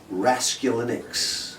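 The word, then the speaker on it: Raskulinecz: I will pronounce it. It is Raskulinix. Nick Raskulinix.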